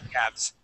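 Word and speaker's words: calves: C good so Cals now that L is going to be silent Adela so instead of saying Cales we say Cales Cales Cavs okay how about number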